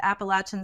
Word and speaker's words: Appalachian: Bill is a lecturer in Rhetoric and Composition at Appalachian State University in North Carolina.